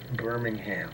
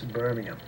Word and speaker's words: Birmingham: Lizzy in Europe, and nobody says Birmingham. It's Birmingham. Yep.